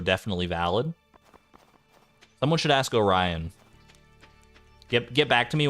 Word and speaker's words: Orion: quirked up sometimes in Greece we pronounced it o Orion Orion I say like Orion it's almost like it's an a instead of an o in the second part but Orion I guess I could